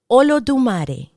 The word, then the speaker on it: Olodumare: And you could pronounce it. Ready? Olodumare.